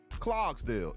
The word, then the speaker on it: Clarksdale: Clogsdale is how you say it if you're from Clarksdale.